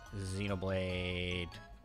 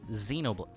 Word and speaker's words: Xenoblade: that's so weird Xenoblade Xenoblade how do you should I pronounce the X in in Xenoblade you just pronounce it like a z I think yeah Xenoblade